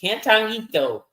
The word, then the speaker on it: Cantarito: Cantarito. So I'm glad you pronounced it. Cantarito. I'm not gonna try. Not gonna try. You gotta roll the Rito.